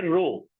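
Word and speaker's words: ρ: इसे पढ़ते हैं, इसको हम प्रोनाउंस करते हैं रो। क्या प्रोनाउंस करते हैं?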